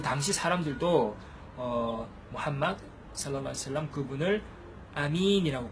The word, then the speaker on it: 무함마드: 그래서 뭐 마호메드라고 하면 안 되고 무함마드 이렇게 말해야 된다는 것.